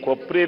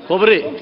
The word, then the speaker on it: ಕೊಬ್ಬರಿ: ಈ ಕೊಪ್ಪರಿ ಬೆಲೆ ಬಗ್ಗೆ ನಿನ್ನೆ ಜೀರೋ ಅವರಲ್ಲಿ ನಾನು ತಂದಂತ ವಿಚಾರ, ಆ ಕೊಪ್ಪರಿಯನ್ನ ಈಗೇನು ನಾಫೆಡ್ನಿಂದ ಕೊಪ್ಪರಿನೇ, ಏ ಕೊಪ್ಪರಿ ಕನೆಯ ಕೊಬ್ಬರಿ ಆಯ್ತಪ್ಪ ನೀನು ಕೊಬ್ಬರಿ ಕೊಬ್ಬರಿ ಆ ಕೊಪ್ಪರಿ ಬೆಲೆಯನ್ನ ಕೊಬ್ಬರಿ